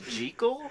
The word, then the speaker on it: Jekyll: proper pronunciation is Jekyll?